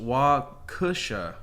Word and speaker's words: Waukesha: The note on this, pronounced Waukesha, and a suburb of Milwaukee.